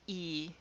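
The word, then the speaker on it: ゑ: It's pronounced e, and it's written today with that sound.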